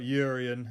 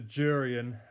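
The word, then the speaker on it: Jurrien: and Timber not uh not Julian not urian it's a durian how he likes to be pronounced so he actually got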